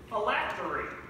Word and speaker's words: phylactery: Miss Park, your word is phylactery. Phylactery. Am I pronouncing that correctly?